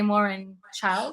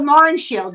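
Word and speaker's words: Mohrenschildt: it right man that we always have trouble pronouncing his name uh George de Moren child oh Moren Shield yeah yeah yeah um you know for for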